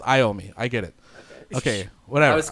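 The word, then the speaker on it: Iommi: so Tony Tony yomi in Spanish it's yomi in regular English it's iom me I get it okay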